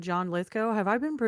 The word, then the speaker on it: Lithgow: Because you guys have all said John Lithgow. Have I been mispronouncing his name my entire life? Like Lithgow, you've been saying?